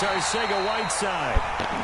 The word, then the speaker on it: Arcega-Whiteside: And it's Arcega-Whiteside.